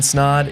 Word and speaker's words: Snod: And until the next episode, my name is Snod. It rhymes with odd, and I'm out.